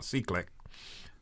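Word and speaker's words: CCLEC: law enforce Smith Council which is pronounced uh c-click um it's on the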